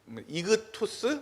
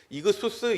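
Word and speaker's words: ἰχθύς: 익투스는 약간은 이제 잘못 읽은 겁니다. 발음 그대로 글자 그대로 읽으면 익수스가 맞는 이그투스 뭐 이그수스 이렇게 읽는 게 맞습니다.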